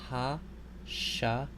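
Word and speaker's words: הַשָּׁמַיִם: This word, you'll notice that the stress is on the next to the last syllable. So this word is ha-sha-ma-yim.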